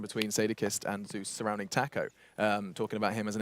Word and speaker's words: TACO: Taco. Taco, that's how you say it. Taco. Taco. Taco. No. Tar. Like tar. Taco. Yeah, like as in T-A-R. Yeah. Taco. Taco. Well, not really an R, but yeah, go with it.